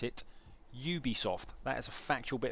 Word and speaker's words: Ubisoft: Ubisoft game that's right I said Ubisoft not Ubisoft because I'm not French I'm not Continental therefore you should pronounce it Ubisoft that is a factual